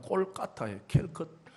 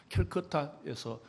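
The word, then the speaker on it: Kolkata: 길거리 그 캘커타, 요즘은 콜카타라 그러더라고요. 현지 발음이 콜카타예요. 캘커타에서 지나가는 약한 남노한 옷을 입은 사람의 얼굴 속에 예수를 본 거예요.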